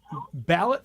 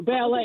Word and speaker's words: ballet: Ballot through mud? Or ballet. Excuse me. Ballet. Ballet Through Mud. Yeah. Sorry. Yeah, it's the French pronunciation always gets us.